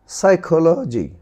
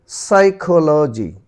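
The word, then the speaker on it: psychology: এরপর দেখো সাইকোলজি, সাইকোলজি এখানে কিন্তু পিসাই হয়নি, সাই হয়েছে, পিসাই না বলে সাই, সাইকোলজি।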